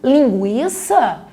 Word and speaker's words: linguiça: Frequência continua com a pronúncia do U. Linguiça, continuamos pronunciando o U.